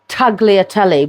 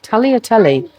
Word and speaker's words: tagliatelle: Now, I call it taglotelli, but I don't think you pronounce the G. I think it's Totelli. Talotelli.